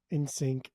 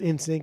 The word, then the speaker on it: NSYNC: NSYNC.